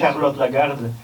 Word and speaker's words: Charlotte Lagarde: So the documentary was made by, I'll say her name in French because I think she's originally French, yes. Charlotte Lagarde, yeah.